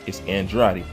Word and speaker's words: Andrade: I said, no, it's Andrade. You could pronounce it several ways, but this is the correct way to say it.